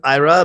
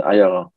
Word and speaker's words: Eyerer: And it's pronounced, I pronounce it Eyerer, but in Dutch, in Germany, it's pronounced a little bit differently. How is that pronounced? In German, it's Eyerer. Eyerer.